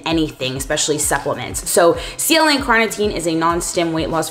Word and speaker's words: carnitine: going to be starting with is CLA and cartino okay that's not how you pronounce but it's CLA and carnitine this is my main go-to supplement for weight